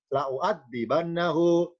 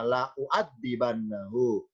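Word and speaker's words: لَأُعَذِّبَنَّهُ: Jadi tulisan lam alif yang sebelah kiri la'a, dibaca la'a, sedangkan lam alif yang sebelah kanan bacanya la'u. Lamnya fathah, hamzanya miring ini adalah dibaca doma, la'u'adzibannahu. Sedangkan yang kiri bukan la'u tapi la'a, la'adbahannahu.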